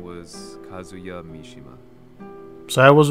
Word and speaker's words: Kazuya Mishima: banged for revenge the missed target's name was kazuya mishima so i was right that's how his name is supposed to be pronounced casually dirtying his hands began to